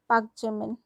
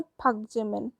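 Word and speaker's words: 박지민: लेकिन हम लिखते तो पाक जिमिन है, लेकिन असली में इसका प्रोनाउंसिएशन पाक-जिमिन नहीं होता है, इसका प्रोनाउंसिएशन है फक-जिमिन, फक-जिमिन।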